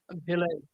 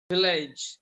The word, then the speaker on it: village: Village. Yeah, village. Village. Then spillage. Not age. Village. I sound. Bijay, 1 second. Village, not age.